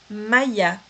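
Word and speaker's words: Maïa: Olha esse trema aqui em cima do i, porque a gente sabe que o A com i aqui teria o som de E, né? Mas como eu tenho um trema aqui, eu vou pronunciar o A, vou pronunciar o i e depois vou pronunciar o A de novo.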